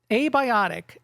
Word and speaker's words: Abiotic: Like that a just sticks out there so much.